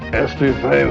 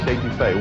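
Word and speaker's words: étouffée: I want some estouffee with crawdads. What Bubba's trying to say is crawfish etouffee, one of our most popular Cajun dishes.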